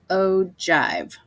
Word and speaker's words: ogive: is called an ogive it's kind of spelled kind of weird but it's pronounced ogive and you've probably never